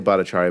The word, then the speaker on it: Bhattacharya: I say Bhattacharya, but my cousins think I don't know how to pronounce it, Okay.